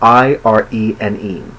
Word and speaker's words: Irene: Irene is traditionally spelled capital I-R-E-N-E, and it would be pronounced Irene in Greek, or as close to Greek as I can pronounce it correctly.